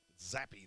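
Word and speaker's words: Zappe: name is Bailey zap zappy there should be a y on the end oh and New England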